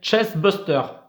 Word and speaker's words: chestburster: Ouh, qu'est-ce que je l'ai mal prononcé? Chestbuster.